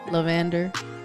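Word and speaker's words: La'Vender: You said it absolutely wrong. It's lavender. Lavender. It looks like it means like. No. I understand. I put an accent to it, dog.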